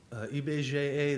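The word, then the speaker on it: IBGE: here is that the eBay GAA that's how you pronounce it in Portuguese has been collecting and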